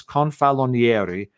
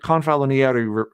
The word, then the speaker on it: Confalonieri: I'm trying to remember how to say his name correctly, but it's Confalonieri was the secretary to Pius XI, and he